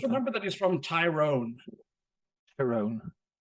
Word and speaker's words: Tyrone: that he's from tyrone tyrone yeah thai no heavy on the eye all right so i